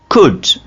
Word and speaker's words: could: could, should, talk, walk, walk, half, salmon, salmon। तो आपने इन मिसालों में देखा कि एल कैसे साइलेंस हो रहा है, ठीक है, एल को हमने ड्रॉप कर दिया।